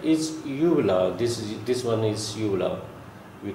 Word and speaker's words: uvula: This one is uvula. We call it uvula. This is the pronunciation of this.